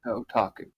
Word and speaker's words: Otaku: Am I pronouncing that correctly? Yes. Otaku.